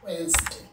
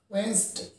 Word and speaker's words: Wednesday: trusted this is completely wrong one the right pronunciation of the word is wednesday wednesday that is the day of the week before